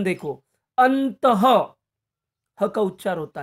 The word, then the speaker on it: अंततः: बताना चाहता हूं कि विसर्ग का उच्चारण करते समय हम हक का उच्चारण करते हैं मगर उन शब्दों का